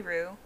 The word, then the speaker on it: Rue: so man yeah yeah you can call me roo it's it's r-u-e i spell it r-u-e but r-o-o is is biblically accurate but i've started spelling